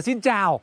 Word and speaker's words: xin chào: À cô nó bảo là xin chào. Xin chào. Comme ta man prononcé, donc il a rien compris. Il faut dire xin chào en deux mots, d'accord? Et tout court.